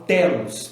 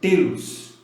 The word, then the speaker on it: Telos: Muitas pessoas falam Telos, tá? A pronúncia correta, inclusive falada pelos telocianos, é Telos, né?